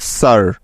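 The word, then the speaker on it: sir: দিয়ে থাকে মনে রাখবে শব্দের মাঝে বা শেষে আর থাকলে এবং তার আগে আই থাকলে ওই আই এর সাউন্ড সবসময় আকার হয়ে যাবে কিছু উদাহরণ দেখলেই বিষয়টি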